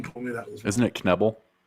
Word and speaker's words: Knebel: i've always pronounced it neville but everyone told me that isn't it knebel like you actually pronounce the k is it nibble i